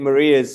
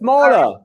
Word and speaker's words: Mara: another webinar I think Maria's sort of hinted on some of them Mara oh it's Mara I'm sorry and the